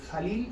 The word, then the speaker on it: Khalil: Acá la KH se pronuncia como una J. El nombre de este autor es Khalil Gibran, ¿no?